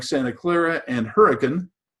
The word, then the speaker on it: Hurricane: George there are lots of smaller towns like Santa Clara and Huracan spelled hurricane but pronounced turrican that are showing demographers this is a place